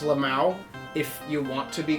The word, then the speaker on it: LMAO: LMAO, it's pronounced Lamau if you want to be cool about it.